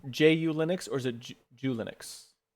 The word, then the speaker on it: ju Linux: hyphen U hyphen Linux that's what I would actually spell it it's just ju right I I but I wrote it down so that I would say it ju Linux like that no that's fine